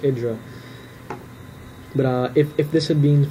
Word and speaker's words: IdrA: I've been saying Idra this whole game. It's actually pronounced Idra.